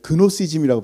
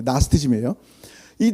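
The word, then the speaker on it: Gnosticism: 내 이단 이단이라니까 내가 생각하는 그런 교리에 나스테즘 생각에 그니까 옛날에 우리는 그 신학 배울 때 그노시즘이라고 배웠어요. 쥐자가 묵음인데 그냥 쓴 거예요. 근데 나스티즘이에요.이 나스티즘 가운데 영주 가운데 예수님이 육체를 입으면 안 되는 거예요.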